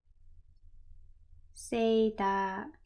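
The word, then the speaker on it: セーター: Seita.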